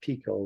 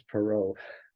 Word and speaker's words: Perot: I call it Pico, but it's Perot.